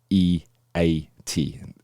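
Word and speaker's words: E-E-A-T: got um an acronym it is e e a t so it would be pronounced eat that's how it's mentioned in in marketing terms and it's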